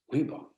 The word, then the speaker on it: Reebok: Reebok. 2 syllables. Sounds good.